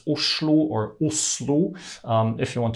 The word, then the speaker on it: Oslo: name Christiania by the way Oslo is not pronounced Oslo at all it's pronounced USU or um if you want to learn more